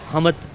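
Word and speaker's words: حمد: हमद असल में अरब में इसे हमद कहा जाता है। लेकिन यहां पे ज्यादातर लोग हमद कहते हैं। प्रोनाउंस नहीं करना आता।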